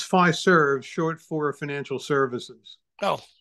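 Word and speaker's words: Fiserv: question I see this company everywhere am I pronouncing it correctly is it pfizerv it's five serves short for financial services oh well that makes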